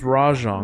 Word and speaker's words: Rajang: Did I say it wrong? Yeah, it's Rajang. Raj. Well, I like to say Rajang. That's always the way I heard it.